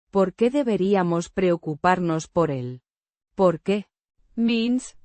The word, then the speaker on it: preocuparnos: Preocuparnos. The stress is on the Co. the C. before. U. Sounds like a soft k. The R. is a single, soft trill.